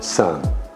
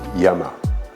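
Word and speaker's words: 山: Mountain in Chinese, you will say, for the Japanese pronunciation, san. In Chinese, you say sen. And the Japanese would be yama.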